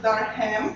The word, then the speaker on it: Durham: is spelled like so, do not pronounce it Durham, because it's not Durham, nothing to do with ham, it's Durham. Okay, and it has been